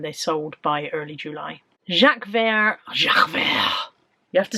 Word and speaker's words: Jacques Vert: Jacques Vert.